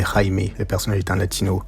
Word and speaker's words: Jaime: D'ailleurs, ça ne se prononce pas Jamie, mais Jaime.